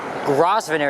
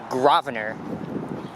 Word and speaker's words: Grosvenor: to pronounce that street well it has an s in there but the s is silent it's not grosvenor it's actually gravener also this neighborhood to